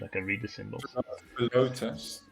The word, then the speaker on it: Philotas: Philotas. That's how you pronounce it.